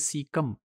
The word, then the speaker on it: caecum: ये एक सिंगुलर होगा, दैट इज सीकम, और इसकी स्पेलिंग है CAECUM, और प्लूरल में जिसे हम सीकी कहेंगे CAECE.